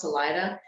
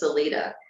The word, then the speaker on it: Salida: was this is actually we thought it was pronounced Salida but if you look up the the original pronunciation is celita and we stopped there on the way down